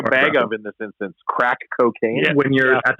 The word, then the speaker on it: craic: Saying we, otherwise saying what's the crack's another one there. That's a big one. The what? That I started saying ironically. What's the crack? What's the crack? What's happening? Like it's spelled CRAIC. Yeah, CRAIC.